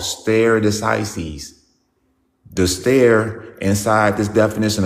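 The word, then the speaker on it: stare decisis: Some people say it's starry decises.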